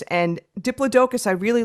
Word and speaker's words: Diplodocus: I kept on listening and listening, and then we were laughing beforehand because I'm gonna Diplodocus.